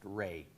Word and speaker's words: Rea: My name is Ray, spelled R-E-A, and pronounced Ray.